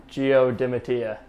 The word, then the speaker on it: Gio Dimattia: record today and tell us how to properly pronounce your name all right geodematea perfect problem solved so hopefully going forward everybody